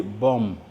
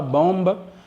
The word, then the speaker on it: bomb: Alors, la lettre B ne se prononce pas.